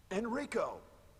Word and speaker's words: Enrico: And unfortunately, Chris actually pronounces this guy's name right. Jill laughably pronounces it incorrectly in the scenario for her. Enrico!